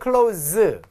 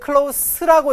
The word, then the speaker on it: close: close라고 하는 단어는 close 이렇게 읽으면 동사예요, 여러분들. 자동사, 타동사가 다 됩니다. 폐쇄 되다, 폐쇄 시키다. 이걸 만약에 close라고 읽으면 그때는 형용사도 되고 명사도 되고 자, 그 다음에 부사도 됩니다, 여러분들. 자, 가까운 애 뜻이죠.